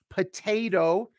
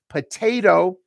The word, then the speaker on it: potato: okay okay and also in American English we say potato the the the that second T becomes a voice D ding ding ding potato but I know in